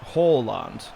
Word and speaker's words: Haaland: Now, it's actually pronounced Haaland, like Hall. When you'd look at that type of name, you'd be like Haaland or Haaland. It's a Hall, like an English Hall, which is interesting.